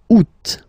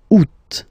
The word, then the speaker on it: août: And then here, two options, because, well, two options are acceptable in French. The first one, you don't pronounce the final T. Ou. Ou. Ou. Second one, you pronounce it. Août. Août.